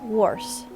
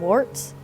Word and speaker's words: Woerz: guy named Ernest Wars I had to go look up how to pronounce this name because I want to call him warts but I went and checked and it says to call him Wars so I'm gonna try